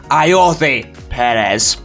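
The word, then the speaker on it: Ayoze Pérez: That's right, Ayoze Perez. 2 Zs, both pronounced different.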